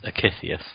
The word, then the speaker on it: Akythius: Dad's Page, or, okay, how do we actually pronounce it? It's Akythius. We were like, Akythius will be joining us next week.